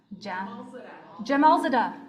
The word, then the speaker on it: Jamalzadeh: The bronze quill goes to Ali Jamalzadeh, Lucid Window Relay. How do I say that last name? Jamalzadeh. Thank you. By Ali Jamalzadeh. Hooray! I did not pronounce that.